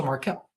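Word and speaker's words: Markelle: that makes sense um you pronounced my name wrong it's the same way as fols oh so Marquel Marquel fols um okay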